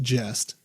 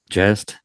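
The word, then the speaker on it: gest: tale of Robin Hood, but it is pronounced jest. Just that's what I was wondering.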